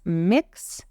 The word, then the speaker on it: Mx: now the next one MX is pronounced as mix or M and it's